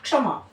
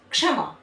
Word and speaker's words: क्षमा: आप बोल के देखिए क्षमा क्षमा है ना दूसरा देखिए कक्षा यानी हल्की सी आप बहुत जब आप बोलते हैं क्ष को प्रोनाउंस करते हैं तो कैसी ध्वनि आती है हल्की सी क की